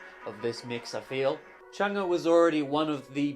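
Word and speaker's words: Change: I'm going to persevere onto the Changi extended mix, which is 10 minutes 47. That's right, this is the more Butterfly 3000 sounding track. Okay, I think it's actually pronounced Chunga according to the lyrics, so my bad for the mispronunciation.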